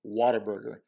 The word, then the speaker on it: Whataburger: want to fit in the way san antonio's pronounced whataburger is whataburger i don't know how